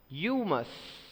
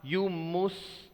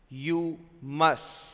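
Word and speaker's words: humus: let's have a look on the second one you must I already informed you it is not you moose because mu s you try to pronounce it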